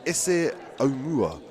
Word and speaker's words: Ese Omua: Number 5, we have what I've been told to pronounce is Ese Omua.